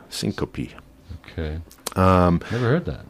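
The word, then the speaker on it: syncope: a term that we go on it's called Syncopy which is basically passing out Syncopy is the medical term for a brief loss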